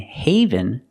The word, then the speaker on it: haven: heaven when you die and Haven has the a making the long a sound like say and day hey Haven a Haven